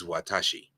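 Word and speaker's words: 私: its idiographic mode and this character just reads Watashi and it means me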